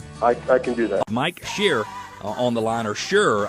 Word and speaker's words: Scher: that for me I can do that Mike shear on the line or sure I feel like I'm pronounced pronouncing your last name is sure sure here share got it Cher I apologize Mike and we were talking about